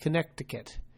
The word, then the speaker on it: Connecticut: diff, and because of this, they started doing surveillance of diarrhea in Connecticut, which should be pronounced Connecticut.